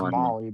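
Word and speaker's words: MOLLE: That's pronounced Molly, by the way.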